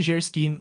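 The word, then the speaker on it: Geierstein: Anne de Gerstein pronuncia-se Gerskin ou a Donzela da Névoa, do autor de Waverley.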